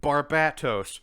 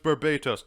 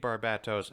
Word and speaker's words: Barbatos: it's batman time travel barbatos people are like it's pronounced barbados there's a t in it barbados is spelled with